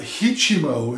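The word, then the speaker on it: ritmo: called hichimistus diasparanza uh hichimo is how you say rhythm in Portuguese and uh so the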